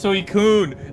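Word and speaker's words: Suicune: It's Suicun. Like a tsunami. All right. Typhoon Suicun.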